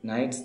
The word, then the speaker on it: knights: অর্থাৎ খেলা, গ্যালান্ট সাহসী, অ্যাডভেঞ্চার কথার অর্থ অভিযান, নাইটস যোদ্ধা, KNIGHTS উচ্চারণটা খেয়াল রাখবে, নাইটস যোদ্ধা, এভার কখনো, অলওয়েজ